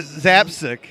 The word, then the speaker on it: Zapcic: say my name say his name I you pronounce his name it's covered you don't even get um Mike Mike uh zap sick yes he did it yeah that was pretty